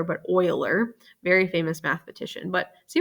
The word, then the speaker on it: Euler: here this was discovered by a guy named euler is how you pronounce it not euler but euler very famous mathematician but see what happens when